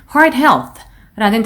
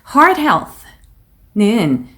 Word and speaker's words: Heart Health: 그래서 당연히 Heart Health라는 단어가 나왔는데 Heart Health는 이게 별로 안 어렵게 느껴질 수도 있지만 Heart에 R 신경 써서 발음해 주셔야 되고 Health의 마지막 TH 부분 Health 하고 요 발음을 잘 마무리를 해주셔야 됩니다.